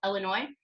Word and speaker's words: Illinois: airline ticket to onwell Illinois no the S is silent New York is looking